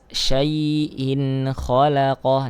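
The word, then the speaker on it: شَيْءٍ خَلَقَهُ: Nah, di sini ada madlin, ya sukun sebelumnya fathah. Syai'in khalaqah. Nah, ini dibaca jelas ya. Karena apa? Karena terdapat hamzah berharokat kasratain bertemu dengan huruf kha.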